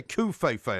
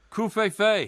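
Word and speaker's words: covfefe: I mean, even the Associated Press, the esteemed news organisation, has actually put out a pronunciation guide for co-fei-fei. And how do they say it? They say coup-fei-fei, actually, C-U-V, Couve-Fey.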